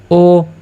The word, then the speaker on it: ho: এইচ এর তো কোন উচ্চারণ হচ্ছে না। যার কারণে ও আমরা বলব ও লাবুরাত।